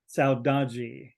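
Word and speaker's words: saudade: is a Portuguese word as she said it's pronounced saudagi and it came to me through music it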